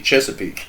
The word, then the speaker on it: Chesapeake: able to purr to pronounce Chesapeake as it's supposed to be Chesapeake ah man it's pretty cool